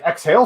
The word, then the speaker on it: Xhale: oh it's spelled weird it's actually x-h-a-l-e yeah exhale like the word and then ale yeah yeah oh it